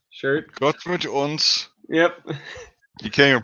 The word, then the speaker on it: Gott mit uns: Oh, I have the CN Arsenal Gott Matones shirt. Gott mit uns. Yep. You can't even pronounce it, but you got it.